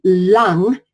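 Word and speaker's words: 龙: the word long now it's pronounced lung as in the lung you breathe with if you were to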